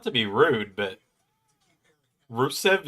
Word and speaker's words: Rusev: Um, Like, not to be rude, but Rusev is exactly how it sounds. Like it's spelled exactly how it sounds. R U SV.